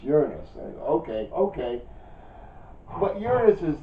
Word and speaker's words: Uranus: Next is Uranus, or as we used to pronounce it when I was a kid, it was Uranus. Yeah, okay, and we found out later. Oh, wait a minute. No, you're mispronouncing that. It's Uranus.